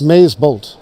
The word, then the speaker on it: MazeBolt: How do you pronounce that? MazeBolt? MazeBolt.